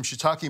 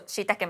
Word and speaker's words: shiitake: When you say shiitake, it just sounds so more authentic. I say shiitake, but how do you say it again? Shiitake. Shiitake. It's got an E on the end.